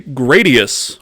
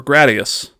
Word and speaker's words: Gradius: First appearance of the Konami code was in, I think I pronounce it this way, Gradius or Gradius.